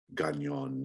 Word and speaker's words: Gagnon: to pronounce the surname we're gonna say gagnon i shall type it for you yeah i know people with that last name and that's how it's pronounced so the society of